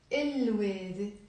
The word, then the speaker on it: الوادي: وادي, الوادي. We pronounce the lam because the waw is a moon letter.